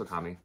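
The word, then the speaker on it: Ōkami: the black side cover it's Okami or Okami Okami Okami yeah it's pronounced Okami o my apologies oh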